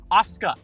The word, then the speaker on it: Asuka: The U kind of is pronounced, but it's very subtle.